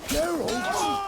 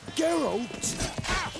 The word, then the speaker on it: Geralt: the back on the Geral you say geralt murder you say geralt